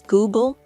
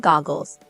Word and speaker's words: Google: to correct his mispronunciations pointing out that it was Google not goggles and chrome not columns